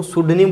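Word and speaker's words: pseudonym: हैं, लिखते हैं, उसको सुडनीम बोला जाता है। स्पेलिंग का भी थोड़ा ध्यान रखना, इसकी स्पेलिंग पी से शुरू होगी।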